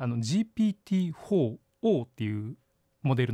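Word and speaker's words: GPT-4o: てるんですけどこれあの読み方は O って読みますへえはいであのオムニの O なんですねあのオムニバスとかオムニチャネルの意味のオムニの O を取られてるんですけどま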